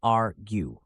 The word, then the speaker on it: argue: let's start with pronunciation argue is pronounced as arue break it down with me R stressed gu softer practice with this sentence I